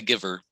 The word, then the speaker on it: Guyver: uh psycho gorman the guyver the guyver yeah what's the guyver about oh yeah that's another pronounce the one it's pronounced the giver it's the macgyver with